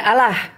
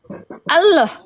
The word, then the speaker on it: Allah: Terdengar enggak ada seperti O-nya. Ini yang Arab Arab asli dia. Allah. Allah. Dia bilangnya gitu. Allah. Allah enggak ada Allah.